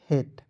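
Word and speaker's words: hate: रूप में प्रयोग करते लेकिन अंतिम में जब ई दिखेगा तो ए केलिए का प्रयोग कीजिएगा एच एटी हेट क्या पढ़ेंगे हेट पढ़ेंगे हेट नहीं पढ़िए उसके बाद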